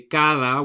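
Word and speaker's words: cada: how to read so like I say Cara which means um each in Spanish it is spelled with a d but it's not a hard D like we have in English it's a softer D that sounds a little bit like th in English so my kids will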